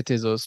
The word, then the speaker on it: Tezos: schools of thoughts uh both pronunciations are fine I say tesos but a lot of people say teasers as well so obviously you